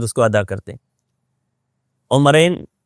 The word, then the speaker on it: عمرین: کو ادا کرتے ہیں۔ عمرین یہ تثنیہ کا لفظ ہے، جیسے حسنین ہے،